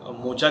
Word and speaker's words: Mocha: Cyclonic मोचा के बारे में हम लोग यहाँ पे ब्रीफिंग के लिए बैठे हैं। तो साइक्लोनिक मोपा का जो मोका है मोचा है, इसके दो प्रोनाउंस है, तो इसके बारे में